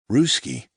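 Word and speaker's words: russkii: Ruski, another form of the adjective rhymes with bruski, not husky, is an identity category.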